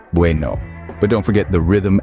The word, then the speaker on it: bueno: pronounced somewhat like bu with the B sound being softer than in English it's not a hard B but more of a blend between B and V the e in buou